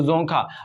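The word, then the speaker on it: Dzongkha: Currency जो है भूटान की वो है नगल्ट्रम, जो इनकी ऑफिशियल लैंग्वेज है वो है जोंखा, यहाँ पे डी साइलेंट रहता है, क्लियर, तो जोंखा।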